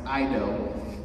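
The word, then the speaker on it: eido: It's spelled E-I-D-O, and it's pronounced Ido.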